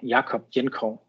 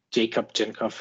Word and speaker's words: Jakob Jenkov: yes um so yeah my name is uh yakob jenko or Jacob jov if you want to pronounce it in English um yeah I'm from